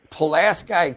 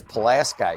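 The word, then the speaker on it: Pulaski: This is going to be a 10-year dilemma because Palaski County is going to be in our district, it looks like, and we have to decide how to pronounce that. I'm pretty sure it's Palas Sky County.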